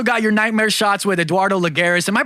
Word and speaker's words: Eduardo Lagares: All right, so you've also got your Nightmare shots with Eduardo Lagares. Am I pronouncing that right?